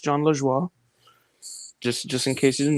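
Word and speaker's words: Jon Lajoie: It's pronounced John LaJoie.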